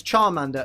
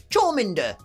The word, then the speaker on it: Charmander: you'd even think that we would pronounce Charmander as chowmander Charmander but of course what